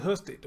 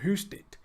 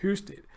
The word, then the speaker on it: Husted: I thought it was Husted, but Husted. Almost sound like Houston, how they pronounce it, Husted.